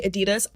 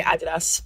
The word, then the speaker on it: Adidas: I know Americans say Adidas. I'm British, so I'm just going to say Adidas. But yeah, Adidas x Balenciaga,